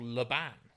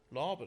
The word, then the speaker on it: Laban: laban center is probably is it laven or laban uh laven laven i think i've i've definitely been told off by a dancer for saying it wrong and my memory is it's laven yeah so so the larvin